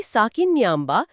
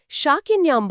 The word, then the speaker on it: ಸಾಕಿನ್ಯಾಂಬ: ಈ ಚಕ್ರದ ದೈವಿಕ ಶಕ್ತಿ ದೇವಿ ಸಾಕಿನ್ಯಾಂಬ ಶಾಕಿನ್ಯಾಂಬ ಅಲ್ಲ ಓಕೆ ನಾನು